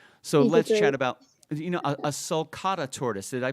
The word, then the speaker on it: sulcata: So let's chat about, a sulcata tortoise. Did I pronounce that right?